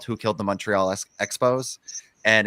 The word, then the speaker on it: Montreal: call-in segment uh in Montreal and they all the English people were saying Montreal, which is how Americans say it instead of Montreal or Moral.